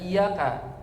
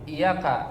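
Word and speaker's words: إِيَّاكَ: ini arti yang benar kalau dibacanya dengan memberikan penekanan tasdid pada kata iyaka tapi kalau kemudian tidak kita berikan tasdid iyaka langsung artinya adalah sinar matahari jauh sekali berbeda maknanya ya oleh karenanya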